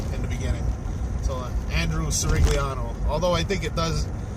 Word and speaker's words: Cirigliano: So Andrew Cirigliano. Although I think it does. I saw the video when you were talking about your last name and the old world pronunciation of it, Cirigliano.